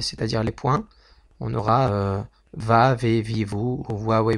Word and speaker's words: Vav: La première lettre, à partir du haut, c'est la lettre Vav, que certains prononceront Waw, et qui est simplement ressemble à une barre verticale avec une tête.